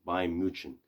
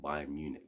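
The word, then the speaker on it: Bayern München: like bayern munich yes by mutron i think that's how you actually pronounce their actual like club name by muchon because obviously it's not by munich but it is what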